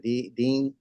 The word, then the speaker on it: Deanne: She said, Dean, her name was Deanne, Dean, it was D-A-N-N-E, but she pronounced it Dean.